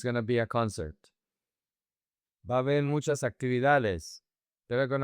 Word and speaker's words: va a haber: Va a haber. Attention here. The two A's connect, and the these A's connect as well. The H is silent. So, you say va a haber.